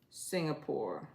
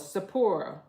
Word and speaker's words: Sapporo: Cabbage, Singapore. No, it's Sapporo.